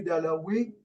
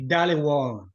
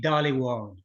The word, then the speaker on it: Dhaliwal: Veux-tu bien le prononcer, Robert, pour nous? Répéter 3 fois plutôt qu'une, le nom de famille du créateur, Jay. Et Jay Dhaliwal. Jay Dhaliwal. Jay Dhaliwal. Jay Dhaliwal. Wow, merci beaucoup. Dhaliwal, merci beaucoup.